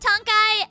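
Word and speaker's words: Tonkhai: how do you even pronounce this ton it's pronounced Tony and it's it's something no one else had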